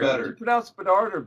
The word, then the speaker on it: Bedard: You pronounce Bedard or better? Bedard. You got it.